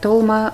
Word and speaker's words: толма: В Армении говорят толма, в Азербайджане говорят долма. Надеюсь, что мы не будем спорить о том, как говорить правильно, как говорить неправильно. Можно говорить и так, тем